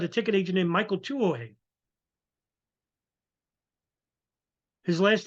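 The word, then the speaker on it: Tuohy: In Portland, you had a ticket agent named Michael Tuo. His last name is spelled T U T U H E Y.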